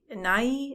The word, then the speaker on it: Nighy: Nighy, is that how you say his name? Oh yeah.